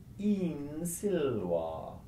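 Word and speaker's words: in silva: with the letter s the vowel at the end of the first word gets lengthened by the fact that there is an S or an F coming up so for example the Latin fall in the field is in Agra with a short I for in in Agra the Latin for in the wood is in silver now what's happened is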